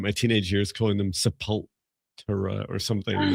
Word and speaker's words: Sepultura: sure I spent my teenage years calling them Sepultura or something. And it's like, there's so many interviews where people say, "How do you pronounce?" Do you know Viviane? How do you pronounce their name? Sepultura.